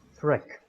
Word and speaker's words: Freak: to Garrett, who is Freak. Am I saying that correctly, how you want to have it pronounced? I want to have it pronounced Frick. Frick. Because it's somehow related to fractal.